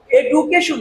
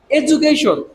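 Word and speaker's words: education: থেকে আপনারা মনে রাখবেন এডুকেশন না আমরা এটু বলব না এু কি বলব এজু এখানে হচ্ছে ইউটা উচ্চারণ করব এজু ঠিক আছে এজুকেশন আশা করি সবাই বুঝতে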